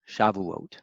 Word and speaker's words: Shavuot: the BET or vet most people pronounce it with a vet especially in those who know Hebrew really well say like Shavua Shaba